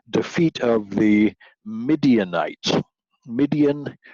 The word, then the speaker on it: Midian: of the mid nights midian rhymes with Gideon so it's fairly easy